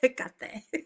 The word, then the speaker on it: Hecate: something would like be Hecate. So she's or Hecate. I don't know. So people pronounce it different ways, but I'm Hispanic, so I like yeah. pronouncing it Hecate.